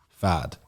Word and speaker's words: Pfaadt: Spell it. Pfaadt. Fad.